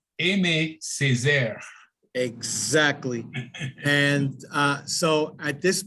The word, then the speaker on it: Aimé Césaire: but his name is Aimé Césaire. Did I pronounce that right, Deacon? It's Aimé Césaire.